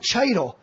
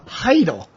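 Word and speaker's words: Chytil: It's not Cheidel. It is not Cheidel. It is Philip Heidel. The Heidel. C is silent. Heedle, I think. I thought it was Heidel. Heedle. Heidel. He is. The C is silent.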